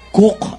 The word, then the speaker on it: Coke: ni sir Edward cook Hanapin niyo ang spelling ng c Coke niyo tanong kung sino pero sir Ed cook ang pagpronounce niyan Ang sinabi niya a